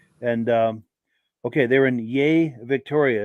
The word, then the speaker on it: Yea: um okay they're in yay Victoria it's pronounced yay cool deal and then